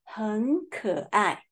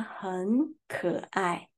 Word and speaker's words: 很可爱: Here, 可 third tone and 很 third tone. We change the form of third tone to second tone. Remember? So we pronounce 她很可爱. 她很可爱.